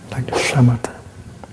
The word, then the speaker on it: samatha: In Pali, 'samatha', with this you pronounce /shamatha/.